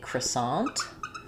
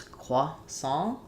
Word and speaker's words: croissant: Okay, we have a question about how to say croissant in English. So British English, they're going to do croissant closer to the French. American English, sometimes we say croissant, which I'm sure some people are cringing to